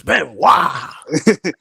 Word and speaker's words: Benoit: Chris Benoit.